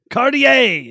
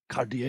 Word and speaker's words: Cartier: Is that how you say it? Cardo, or is it Cartier. Cartier? There we go. Old school. Cartier.